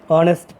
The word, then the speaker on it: honest: Honest politician, honest, H is silent here.